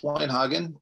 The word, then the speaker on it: Weinhagen: Thank you, Alex Weinhagen. Am I pronouncing that correctly?